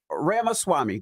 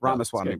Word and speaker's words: Ramaswamy: Yeah, it's like Ramaswamy, like CD-ROM, Ramaswamy. but yeah. What I said, Ramaswamy. Yeah, you got it. Ramaswamy.